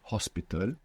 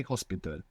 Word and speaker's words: hospital: words for example like Hospital ends in Al but it's not pronounced you must imagine that it begins with an O so how would you say hospital hospital see you you